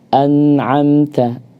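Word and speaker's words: أنعمت: Tapi kalau kita tekan kemudian langsung kita lepas an'amta, maka pasti mantul ya. Harusnya an'amta Ya, ataupun jangan juga diputus Ustaz, karena suaranya kadang-kadang ada yang diputus-putus.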